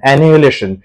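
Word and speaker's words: annihilation: অ্যানিহিলেশন, এইচ এর উচ্চারণটা generally হয় না, অ্যানিহিলেশন।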